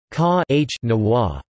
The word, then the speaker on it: Kanawha: The origin of the word Kanawha, pronounced Ka-H-Nawa, derives from the region's Iroquois dialects meaning waterway or canoe way, implying the metaphor transport way in the local language.